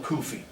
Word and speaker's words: kufi: white wool Muslim Yas it's called a kufi rhymes with Sufi asalam Alum I said